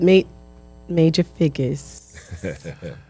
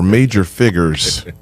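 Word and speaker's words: Major Figgaz: And then with Major Figgas. Did I say it right? Yeah, you better than the first time. Because the first time you was just prim and proper, Major Figures.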